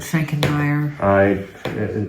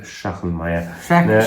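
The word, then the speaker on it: Schachenmayr: No more about Schenkenmeyer. Schachenmeier. Schenkenmeyer. Yeah. I always say Schenkenmeyer. I don't know anything about Schachenmeier. I have always said it wrong.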